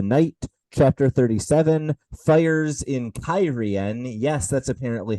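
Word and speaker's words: Cairhien: daughter of the Night chapter 37 fires in kyen yes that's apparently how that city is pronounced now and chapter 38 maidens of the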